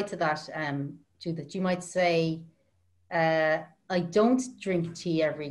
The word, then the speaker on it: sa: And the word for, so in English we have two words when we say in the shop.